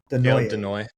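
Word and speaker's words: Desnoyers: And then they have Caleb Desnoy. I can never say his name right. Denoy. Yeah, Denoy.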